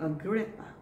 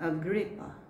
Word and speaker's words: Agrippa: This word can be a noun or a verb, but the same pronunciation. The word is dispute. Dispute. Next word. Uproar. Uproar. Next. Go. King Agrippa. King Agrippa.